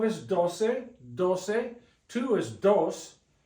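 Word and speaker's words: doce: do do two is Dos 12 is do with a c 13 TR like a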